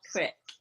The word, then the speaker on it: creek: know it we know we know it's spelled Creek but it comes out Crick maybe we're saying it right and they say it wrong you can tell we're from Philly area we all we all say crick in this area Ed you know what's